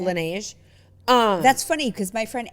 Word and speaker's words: Laneige: How do you pronounce that? Laneige. Laneige. Laneige. Is that how you say it? Laneige.